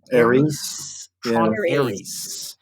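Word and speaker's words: Ares: Tron, do I pronounce this Aris or Aries? Aries.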